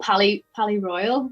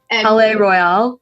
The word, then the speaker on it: Palais Royale: Pally Royal. I always say their name wrong. Palais Royale. Yeah, Royale. But they had such a young crowd.